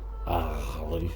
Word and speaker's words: Aghalee: looks like Aghalee, but it's an Irish word, so it's not pronounced Aghalee, it's pronounced Aghalee, but you kind of get into the back of the throat more than I can, sort of thing, when you're saying it.